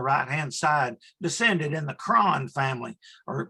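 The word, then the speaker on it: Croghan: And the dagger on the right-hand side descended in the Cron family, or Krogan, we would want to pronounce it by the spelling, but it's Gaelic.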